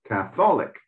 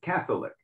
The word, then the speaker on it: Catholic: or emphasis which is Catholic but in English the emphasis is often closer to the front so instead of Catholic it's Catholic that's funny very good